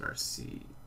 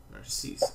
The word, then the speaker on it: Narcisse: You pronounce it Narcissier? Narcissier? Narcisse. Okay, I like that a little better.